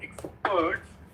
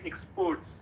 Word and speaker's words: expert: Yeah, I found like when you're trying to say experts, you said exports.